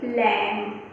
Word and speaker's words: LAMB: Next picture है LAMB लैम्प, तो उसमें भी हमारा जो B है वो साइलेंट है।